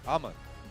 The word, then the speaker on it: Amon: And I do want to be clear, it looks like it says Amang on the screen, but it's actually pronounced Amon. Like Amon-Ra, my I'm serious. second favorite Egyptian god.